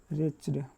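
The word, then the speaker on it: wretched: इसको क्या पढ़ोगे, देखो यहाँ पर इसको क्या पढ़ोगे, रिच्ड, हमेशा रिच्ड, रिच्ड पढ़ोगे, रिच्ड।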